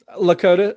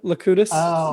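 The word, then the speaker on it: Locutus: a jerk so yeah you're pronouncing it with two o's instead of a u before lakota locutis yes locutis keith is your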